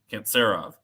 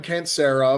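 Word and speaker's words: Kantserov: the three syllable name this is a little broadcast trick when they have three syllables in their name it's a Russian name it's that middle syllable that gets the accent okay who's netzov can't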